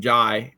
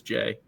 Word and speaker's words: Jai: from Kentucky at Duke I spent like a couple weeks calling him ji because you just want to you see the the AI and want to pronounce it differently but but it is Jay um okay thanks for